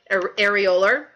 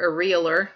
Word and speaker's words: areolar: So you remember loose has areolar, or if you prefer areolar, depending on how you like to pronounce it, adipose, and reticular, R, right?